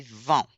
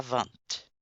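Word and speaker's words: vingt: Oh, je on prononce pas la consonne finale. On dit 20 pas vente.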